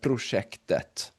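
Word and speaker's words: prosjektet: When it comes to the T at the end of the word, your rule of thumb here is that you always say the T, except if it is is a neuter noun, right? A noun that starts with et, and in singular definite form. For example, huset or projektet.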